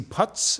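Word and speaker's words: Putsch: uh guys like uh Casey Putts, is that how you say it? Push. Push. Push. It's P U T S C or Yes.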